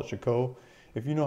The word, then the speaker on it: Chicot: and one of the local local guys is pronounced Michiko so I'm gonna try I'm gonna try to call it Chico if you know how to say the Chicot